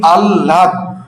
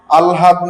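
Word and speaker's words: আহ্লাদ: আবার অনেকের ভুল হয় হ এর সঙ্গে ল উচ্চারণটা কি আললাদ হ্যা আলহাদ নয় হ্যা আহলাদও নয় আল লাদ আল লাদ তুমি বড আল্লাদি মানুষ আললাদি মানুষ।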